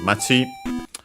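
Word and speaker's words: 町: The something is uh machi. We've seen it before. Uh it means down uh accented also on the last syllable.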